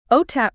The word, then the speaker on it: OTAP: OTAP, pronounced OTAP, stands for the Oregon Technology Access Program.